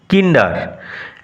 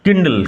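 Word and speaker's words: kindle: একগুচ্ছ কিট্টান বা বিড়ালের বাচ্চাকে বলা হয় কিন্ডার। একগুচ্ছ বিড়ালের বাচ্চাকে বলা হয় কিন্ডার। সরি একগুচ্ছ বিড়ালের বাচ্চাকে বলা হয় কিন্ডল। উচ্চারণ কিন্ডল কে আই এন ডি এলই।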